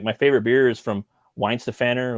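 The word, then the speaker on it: Weihenstephaner: favorite beer is from weinstephaner or they pronounce it Vines the fanner and they have a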